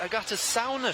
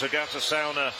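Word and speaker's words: Agate Caune: athlete in the final this is actually pronounced Agata sauna she said okay in that case I will amend my pronunciation and it's Agatha sauna running away from the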